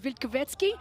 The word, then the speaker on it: Wilkowiecki: Now, let me tell you, it's taken me all week to finally pronounce his name correctly, but it is Robert Wilkowiecki from Poland.